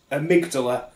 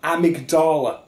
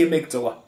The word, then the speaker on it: amygdala: that no one knows that the word amygdala is amygdala not amygdala the boss is called amygdala it's named after a part of the brain it's called the amygdala not the amygdala it would not have